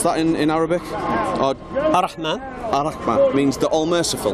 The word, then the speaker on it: Ar-Rahman: Then we've got at the top there, how do I pronounce that in Arabic? Ar-Rahman.